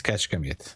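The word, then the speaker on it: Kecskemét: But yeah, it's uh it's uh it's Kashkamit. It's called Kashka. You will never it's super hard to pronunciate.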